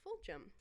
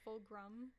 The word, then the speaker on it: Fulghum: for a long time it's like full grum or full gum that's what I thought at first I thought it was full group yeah I'm like there's no R but even like in our um in our wedding the priest announced it fulgum I never pronounced it